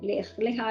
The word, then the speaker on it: Lech Lecha: Dios es en hebreo, Lech Lecha, así se pronuncia, Lech Lecha, lo que le está diciendo a Abraham, ve